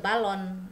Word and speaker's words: ballon: Ini N dia dibacanya eng ya, karena tidak ada huruf belakangnya. Kalau ada e di belakangnya jadi le ballon ya, tapi ini karena tidak ada huruf e di belakangnya jadi kita eng ya, dibacanya eng, le ballon ya.